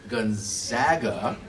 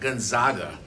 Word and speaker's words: Gonzaga: So remember the Cougs, they beat SIU, Edwardsville in Illinois, then Gonzaga, not Gonzaga. Don't say it wrong.